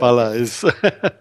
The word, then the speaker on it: Balleis: Balleis.